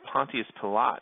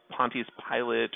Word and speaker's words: Pontius Pilate: roman governor of judea pontius pilate or pontius pilate or pontius pilate i've heard all three of those pronunciations he doesn't actually mind